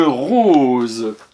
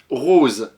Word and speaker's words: rose: Rose, R-O-S-E. Attention, je te rappelle, le S entre deux voyelles se prononce Z. Ici, on peut mettre un S pour faire rose.